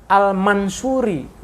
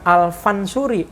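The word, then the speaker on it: al-Mansuri: apa namanya eh noda Jadi dibacanya almansoori bukan al-fansuri Meme dan Pak sama-sama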